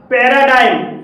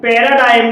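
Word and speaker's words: paradigm: पैराडाइम, पैराडाइम में जी के बाद एम आया है और यहाँ पर भी जी साइलेंट है।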